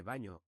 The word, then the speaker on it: baño: Importante la pronunciación de baño con ñe.